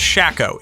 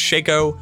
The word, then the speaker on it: Shako: Also, Joe Popora said Shako, not Shako. It is confirmed that's pronounced Shako.